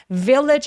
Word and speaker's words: village: 그리고 village처럼 맨 마지막에 오는 GE 소리 있죠. 이렇게 GE로 끝나는 단어들 정말 많은데 얘네들은 village 아니고 village 하면서 마치 CH처럼 조금 가볍게 처리해 주세요.